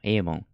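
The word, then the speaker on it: 일본: がめちゃくちゃ大事だと思います avon エイボンいいルボンって読むのはもう最悪ですね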